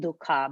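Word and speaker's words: दुख: english it could be if you write it down it will be pronounced dukkha but duke is what we say right like um it's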